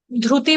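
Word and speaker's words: धृति: साफ़ करने की आवाज़] धति बोला है ध्रुति बोले बोलेंगे आधे श का उच्चारण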